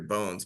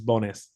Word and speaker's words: Bonis: so I'm seeing Hector I always thought it was Hector bones but it's is it bonis is that how you say it yeah that's right it's bonis bonis I like bones better